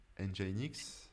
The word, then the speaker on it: Nginx: LEMP, donc c'est Linux, Nginx. Le E, c'est pour Engine, tu vois. Parce que Nginx, ça s'écrit Ouais, non, NGINX, c'est. mais ils ont mis le E.